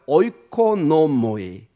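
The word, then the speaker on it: οἰκονόμοι: 따라해볼까요? 오이코노모이. 오이코노미. 예, 여러분 이코노미하고 발음이 비슷하지 않습니까, 여러분?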